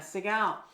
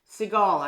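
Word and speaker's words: Segal: Language of your body by Ena seal seigal actually is what how she pronounces her name and um and there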